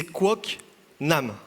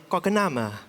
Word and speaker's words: Quoc Nam: En fait, mon prénom entier, prononcé en français, c'est Quoc Nam. Prononcé en vietnamien, Quoc Nam.